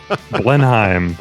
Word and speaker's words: Blenheim: It's Blenheim. There it is. I don't think I ever attempted to try to pronounce it until I heard you say it.